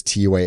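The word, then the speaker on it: T'way: So that's so I was like, is it Tway? But T-Way, from our understanding, we are correct by pronouncing it, are going to take 777s.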